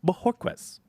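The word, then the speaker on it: Bojorquez: packers traded for corey bohoquez i i'm sure i butchered that but he did say the j is like an h so that's that's how i'm saying it i care courtney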